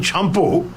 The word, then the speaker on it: champo: Because shampoo came from the British saying champo, when they got their servants to wash their hair. So press and knead and rub your hair is champo.